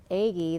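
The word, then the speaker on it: Aigai: It also is spelled A-I-G-A-I. And A-I-Y-A-I. And the way they show the pronunciation, it looks like the word edge, which was very interesting.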